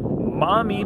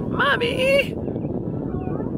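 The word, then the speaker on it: Maumee: All right, everyone, and we are at Mommy Park. I think that's how it's pronounced. Mommy! M-A-U-M-E-E. I'm going with Mommy, and if that's not how you pronounce it, too bad.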